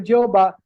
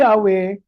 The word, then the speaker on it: Yahweh: So yun po dahilan kahit alam at recognize na nila na ang tamang pagbikas ay hindi po Jehova kundi Yahwe ay hindi na po nila ito pinalitan.